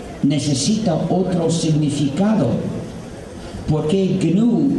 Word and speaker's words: GNU: Se escribe GNU y en inglés se pronuncia GNU.